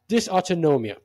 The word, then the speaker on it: dysautonomia: helps in treating stress-related, let me try to pronounce this properly. Dysautonomia. Okay, you didn't tell me that. Dysautonomia.